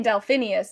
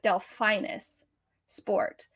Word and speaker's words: Delphinus: dell fineness delphinus sport i kept saying delphinius and it's not it's like delphinus sport it's named after the constellation so i'm i don't